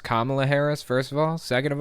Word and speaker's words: Kamala Harris: have articles of impeachment to impeach Joe Biden Cala Harris it's pronounced Kamala Harris first of all second of all impeachment articles